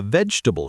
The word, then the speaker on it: vegetable: three soft th comfortable three syllables receipt silent p vegetable three syllables island silent s